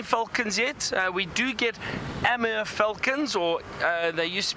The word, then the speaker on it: Amur: We do get Amur falcons, or they used to be known as eastern red-footed kestrels.